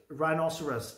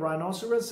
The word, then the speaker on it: rhinoceros: है बहुत well equipped राइनोसरस। अब इसकी प्रोनाउंसिएशन जो है राइनोसरस है, यहाँ पे अक्सर लोग राइनोसार्स कहते हैं जो कि गलत है।